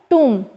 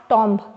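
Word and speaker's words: tomb: Once, our dear ones, that is called टूम, नॉट टॉम्ब, ठीक है।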